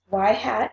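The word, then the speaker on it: y-hat: an explanatory variable changes in that form it's y hat equals a plus BX and where a is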